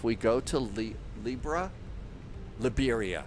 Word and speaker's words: Liberia: So, the only question that I've got is if we go to Li Libra, Liberia, I guess it's Liberia. It's not Libra.